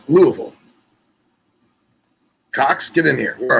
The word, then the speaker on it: Louisville: It's pronounced Louisville. Okay, Louis. No, it's Louisville.